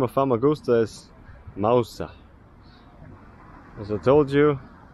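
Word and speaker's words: Mağusa: name of Fusta is Mousa as I told you the g is silent like an Edan T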